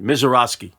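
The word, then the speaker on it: Misiorowski: This Jacob Mizorowski, let me pronounce it right. Mizorowski.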